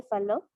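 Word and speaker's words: Fallot: es principalmente lo que es la tecnología de falo y así se pronuncia decían que la tecnología de faldo presentaba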